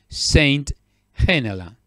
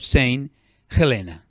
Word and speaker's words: Saint Helena: was excited to the Atlantic a island of Saint Helena I repeat to the island of Saint Helena that is the correct pronunciation and this island is is between Africa